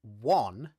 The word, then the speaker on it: one: you will see that the dictionary says that the word one as in one two three should be pronounced with the vowel ah okay as in the word cup okay one two three